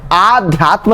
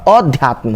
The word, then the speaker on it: अध्यात्म: ये देखिए आध्यात्म नहीं होता, अध्यात्म होता है, आध्यात्म नहीं होता।